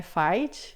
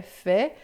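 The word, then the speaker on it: fait: Lembrando, não é fight, né? É fé. F A I T. A i sempre som de e o t é mudo, que l'amour faz sofrir,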